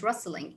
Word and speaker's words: wrestling: rushed to link wrestling the t here is silent wrestling excellent my girls these